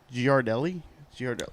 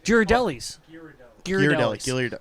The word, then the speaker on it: Ghirardelli: it and then you can fix it okay giardelli oh godelli's oh girardelli's thank you those are so good [ __